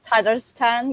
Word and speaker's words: Tatarstan: Yeah, it's Tatarstan.